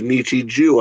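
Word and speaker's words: Nichijou: My Everyday Life, otherwise pronounced Nichiju, apparently. Nichiju, right? Nichiju. Joe. Is that how it's pronounced? Yes. J-O-U. I've only ever heard it pronounced Nichiju.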